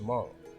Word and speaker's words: Hmong: The Miao are known in southeast as the Hmong, pronounced Hmong. I still pronounce the H just because I don't know, but it's Hmong.